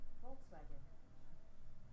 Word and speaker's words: Volkswagen: it's an f huh why volkswagen is pronounced as volkswagen basically v is turned to f is this another german rule isn't there also like another one does it also v get read as like w or something or i